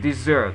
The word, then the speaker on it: dessert: you say this year so in English it will be the same dessert the accent will be on the second syllable okay yeah and there